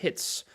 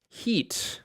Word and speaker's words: hit: Sin embargo, esta palabra, uno pensaría que se pronuncia heat, ¿verdad? Pero esta palabra no es heat. Esta palabra es golpear. Hit.